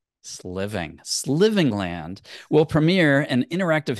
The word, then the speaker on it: Sliving: SL living land yeah it's like slaying and living like you're gonna slay living sliving sliving singland will Premiere an